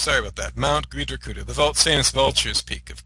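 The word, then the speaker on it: Gṛdhrakūṭa: I said Gridriakutta. It's Gridrakutta. That's how it's pronounced. Sorry about that. Mount Gridrakutta.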